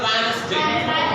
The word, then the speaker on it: Wednesday: And here is a Wednesday.